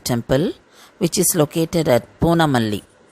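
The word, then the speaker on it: Poonamallee: The temple for today is Tirukachinambi Kovil or Varadaraja temple, which is located at Poonamalli. This place in Tamil is pronounced as Pundamalli.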